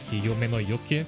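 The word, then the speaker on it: Yumeno Yuuki: And it's also because since my name is alliterative, it's like Yume no Yuki, it's the same syllable twice.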